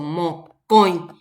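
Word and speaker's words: mokõi: Si ustedes pronuncian eso, mocoin, la fuerza de la pronunciación recae sobre la O. Y también la pronunciación de la O nasal, mocoin.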